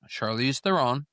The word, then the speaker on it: Charlize Theron: This one's got Charlize Theron. Okay. That's how you pronounce her name.